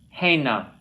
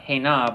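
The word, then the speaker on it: הנה: Hena. Not hena, but hena.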